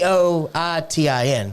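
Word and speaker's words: poitín: Because it's spelled poutine. Okay. Poitin.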